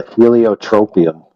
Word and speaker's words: heliotropium: So it's called a heliotropium. Rhymes with copium.